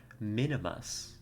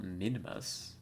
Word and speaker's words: Minmus: I could have sworn there was an I there. Like, Minimus. It's just how you pronounce it, right? Not Minmus. Well, apparently I'm just wrong.